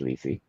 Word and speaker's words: Lisey: It looks like Lizzie with an EY instead of a ZZY or a SSY, but it's pronounced Lisi.